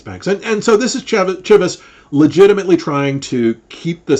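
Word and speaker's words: Cheves: The president resigns and was replaced by this guy, Langdon Chivvis. That's how you pronounce his name, Chivvis.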